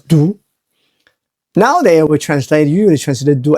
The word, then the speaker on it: 毒: And you have 2 dots here. And eventually you write them like this, right? That's pronounced as do.